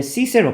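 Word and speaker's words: Cicero: 자, 그리고 이 이제 시세로 발음은 시세로인데 이제 한국식 표기로는 키케로라고 이렇게 표기가 되기도 해요.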